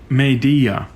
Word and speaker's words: Meidi-ya: for their logo, but they spell it Meidi-ya, and that D sound doesn't really exist in native Japanese, so it's a bit strange for anyone who speaks it.